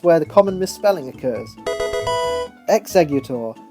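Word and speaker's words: Exeggutor: the common misspelling occurs executor the similarity between the sound of X and eggs often leaves plenty of people's brains scrambled when they try and spell this one Chikorita this is the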